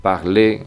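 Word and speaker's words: parlez: y también que vosotros parle esa Z no se pronuncia suena Exactamente igual que el infinitivo parle que acaba en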